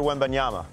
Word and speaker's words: Wembanyama: So I tried to morph CeeDee Lamb, and Robert, you gotta help me with the pronunciation. Wembanyama? Yeah, Victor Wembanyama.